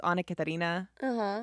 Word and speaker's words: Anna Katharina: do you say it my name's annika tarina so it's basically like a catarina v v what's the